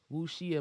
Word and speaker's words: wuxia: wuxia mistress and then nymph is called cursed wu shia mourner and i also found out how to pronounce what she is so that's why i